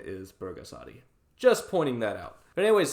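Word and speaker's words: 불가사리: to pronounce Burgas Adi is with a B not a P it's both gasp Adi not pulgasari the reason people mispronounce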